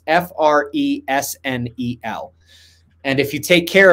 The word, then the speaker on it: Fresnel: But it's spelled weirdly. It's Fresnel.